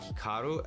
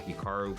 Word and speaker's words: Hikaru: pronounce Hikaru nak now even myself when I pronounce my name it's definitely more Americanized versus Japanese certainly if I was pronouncing it correctly it would be more like Hikaru as opposed to Hikaru but I've spent so